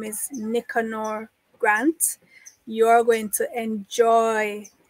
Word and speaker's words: Nicanor: I would prefer to say Nicanor. Nicanor. Okay, so yeah. It's pronounced Nicanor.